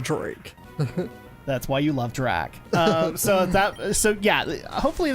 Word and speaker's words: Drak: but hey dear YouTube that's how you say my name there's no more Drake anymore on YouTube Drac I don't know why